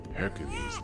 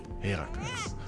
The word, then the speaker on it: Heracles: is why it is important to not call him Hercules, but Heracles. Well, to be precise, it's Heracles and Hera is Hera, but, you know, let's